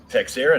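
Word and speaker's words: Texeira: And I'm probably pronouncing it wrong, and I don't care. Texera? No, Texera is the right way to pronounce.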